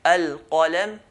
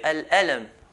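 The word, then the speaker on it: القلم: They change the qaf into an alif. Instead of saying al-qalam, al-qalam, they will say al-alam.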